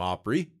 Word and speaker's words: Opry: had no Monopoly on the term opery a once common Hill Country pronunciation of Opera but it was less